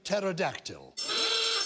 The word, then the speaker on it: pterodactyl: Greek in origin so it has a silent P because we don't pronounce the P well I'm just trying